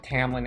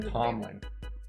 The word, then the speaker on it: Tamlin: Well, it was audio, so I heard it Tamlin every single time. I just keep on wanting to call him Tomlin.